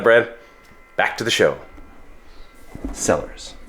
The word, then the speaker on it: Sellars: So anyways, Sellars, not Zellers like the store you guys had up here in Canada.